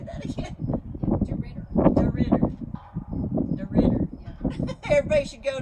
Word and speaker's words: DeRidder: DeRidder.